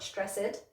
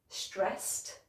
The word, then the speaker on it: stressed: With our next set of words, the problem comes at the end because it should be a T sound, not an extra syllable. Let me show you what I mean. So we've got watched, not watched, watched. And stressed, not stressed, stressed. And then stopped, not stopped, stopped.